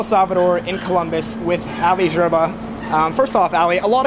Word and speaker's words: Gerba: So you have to be French to really pronounce it right.